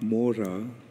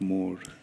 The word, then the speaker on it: mora: This is a Bengali song, and in Bengali often the A at the end is not pronounced. Like not mora, but more.